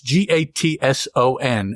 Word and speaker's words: Gatson: n and of course my impulse is to pronounce that Gast G yeah because that's just easier to do but that's not the name the name is Gatson I just let me